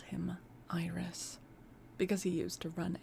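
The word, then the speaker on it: Irus: the place called him Iris, because he used to run errands for anyone who would send him. Is that supposed to be pronounced Iris? Yep.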